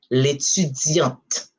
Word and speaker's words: l'étudiante: Is you don't pronounce the E, it's a silent E, but the consonant you give the sound of the T.